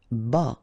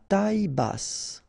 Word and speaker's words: bas: Q u E logique bas final S not pronounced bas ok bass final pronounce